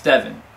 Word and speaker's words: Devin: My name's Devin, with an I.